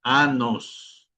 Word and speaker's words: anos: o años, mientras que en portugués es anos, ¿okay? Anos, okay.